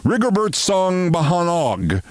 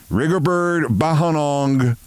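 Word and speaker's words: Rigobert Song Bahanag: Cameroon team rigobert song often referred to by his full name rigobert song bahog or as it was said in the script rerberg bahong song 3 2 1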